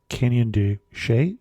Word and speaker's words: Canyon de Chelly: be of smaller scales, I haven't been to Canyon de Chelly. Am I pronouncing that correctly?